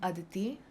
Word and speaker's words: Aditi: is today am I saying your name correctly adii did I say it wrong hi I'm Aditi okay so what were the two things have